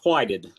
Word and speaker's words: Whited: Is it Whitted? It's whited. Whited, Whited.